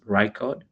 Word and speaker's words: Rickard: I pronounced my name correctly, right? It's Ricard.